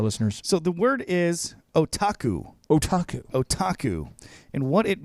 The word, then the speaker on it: otaku: introducing to our listeners so the word is otaku otaku otaku and what it means is do it again otaku Grande oh Taco Bell Rico it's o-t-a-k-u pronounced otaku and in Japan it means a young